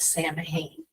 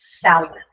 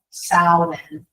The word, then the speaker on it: Samhain: mispronounce it Sam Hayne.